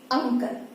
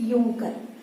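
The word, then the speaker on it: uncle: ही दे रहा है, अंकल, नॉट यूंकल, इसे हम यूंकल नहीं पढ़ेंगे, जैसे कि यूनिवर्सिटी, यहाँ देखिए यूनिवर्सिटी।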